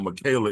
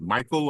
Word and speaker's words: Micha: it it's uh it's not Michaela Is It Michael I want to make sure I get your name correct oh it's pronounced Micha Micha okay Micha that's I